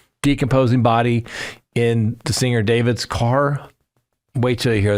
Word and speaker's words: d4vd: The vehicle was registered to David Anthony Burke, uh, professionally known as the 20-year-old singer David, spelled with a four.